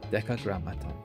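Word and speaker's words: Decagrammaton: Deca grammaton cuz it's like two M's, right? It's it's mton, not a single M. If it's like a single M, I could pronounce this Eton, like the like gramon, but it's like two M's. So, it's like the grammaton, you know, like association.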